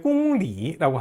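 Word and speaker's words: 公里: 킬로미터라고 할 때 공리라고 합니다. 공리 이때도 역시 리라고 발음하죠.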